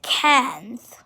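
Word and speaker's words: quinze: So 14 is spelled Q-U-A-T-O-R-Z-E. Quatorze or quatorze or quatorze. And 15 is cans.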